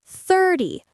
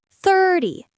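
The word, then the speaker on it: thirty: And 30 30 the stress is on third.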